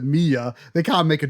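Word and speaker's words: Milla: Uh because you know like by the time you get to me m it's spelled Miller but they pronounce it Mia.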